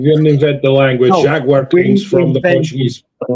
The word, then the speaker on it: Jaguar: No, Jaguar comes from the Portuguese. The language. Jaguar brand comes from the Portuguese word jaguar, and that is the correct pronunciation of the British car company.